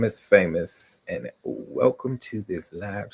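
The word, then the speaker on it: Faymos: My name is Famous. And yes, that is my real name. And as you can see over right there, you can see that the um the name is spelled different. So F A Y M O S.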